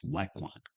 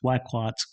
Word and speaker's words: Wacquant: Now, maybe saying his name wrong, but I think it's Wacquant.